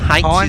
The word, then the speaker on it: Heinz: Heinz, as I asked the pronunciation. Heinz, is it? Heinz is the pronunciation.